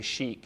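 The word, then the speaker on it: sheikh: and his third wife we we say Sheik in this country but the actual Arabic pronunciation is Sheek which is sort of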